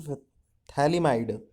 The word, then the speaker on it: phthalimide: Gabriel phthalimide, pH is silent here.